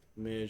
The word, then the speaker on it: mais: Mais, it's not ma, but mais.